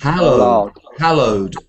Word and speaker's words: hallowed: yeah mustach 11 we say h White H hallowed hallowed hallowed is like a special religious ground